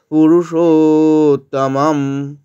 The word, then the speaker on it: পুরুষোত্তম: মত উচ্চারণ হবে পুরুষোত্তম পুরুষ পুরো হ্রস্ব কিন্তু মধ্যস্টা দীর্ঘ তাই দীর্ঘ করলাম পুরুষোত্তম শেষের মা টা অর্ধেক